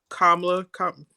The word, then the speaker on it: Kamala: Kamala, did I say her name right?